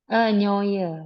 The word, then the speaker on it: neue: Gimana cara bacanya Longgu? Nyoy. Neue Nyoye.